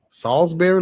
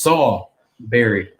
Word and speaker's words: Salisbury: I said Saul like King Saul.